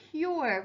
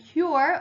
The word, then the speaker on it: cure: of hurt is a cure we're all hoping for a cure for covet and cure also rhymes with sure and pure and the opposite of